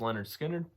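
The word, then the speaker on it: Lynyrd Skynyrd: you truly enjoy that Leonard Skynyrd's pronounced Leonard Skinner everybody knows Sal them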